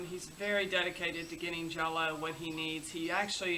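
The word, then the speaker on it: Jelo: come on sunday and his name is jello and no we're not saying it wrong it's spelt je l oh but they say jello so fragile and I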